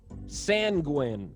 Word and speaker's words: sanguine: Sanguine. The scientist was sanguine about the uses for a new lab discovery. Sanguine. Guessing like penguin.